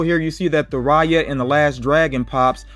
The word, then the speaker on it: Raya: figure i'm also here you see that the raya and the last dragon pops are starting to